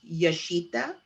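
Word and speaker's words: Jashita: host my agency was yashita okay and it spelled with a j j a s h i t a yes that's a property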